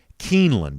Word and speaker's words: Keeneland: Keeneland is how you say it.